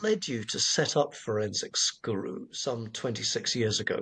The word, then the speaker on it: forensic: officers, nobody knew what forensics was. In fact, uh they wouldn't even pronounce it correctly. you know, they would say forenic instead of forensic or they would say